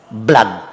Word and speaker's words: blood: Jadi sama B L O D dibacanya apa? Blood.